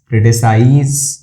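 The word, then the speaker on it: criticise: जैसे analyse, क्रिटिसाइज, memorise और characterisation, वैसे इसका प्रोनाउंसिएशन ज ही होता है, ठीक है, स नहीं होता, ज होता है। कैरेक्टराइजेशन कौन बोलता है? कैरेक्टराइजेशन। क्रिटिसाइज, क्रिटिसाइज कोई नहीं बोलता, क्रिटिसाइज कर दूं, प्रोनाउंसिएशन वही है क्रिटिसाइज, लेकिन यहाँ पे एस ज का काम कर रहा होता है।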